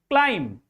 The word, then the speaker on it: climb: B is silent because B just come after M. And there is also a word like climb.